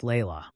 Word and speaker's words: Layla: second child, a beautiful little girl named Layla, pronounced Layla.